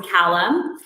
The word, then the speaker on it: Calame: be joined today by entrepreneur and consultant Callum uh actually let me pause did I pronounced your last name correctly you did it